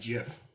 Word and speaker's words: Gith: A Gith. Yeah. It's pronounced GIF. That's a hard G.